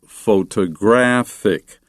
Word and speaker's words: photographic: Photograph, but photographer, photography, and the adjective photographic. So you can put the accent on the first, second, or third. syllable depending on its grammatical usage.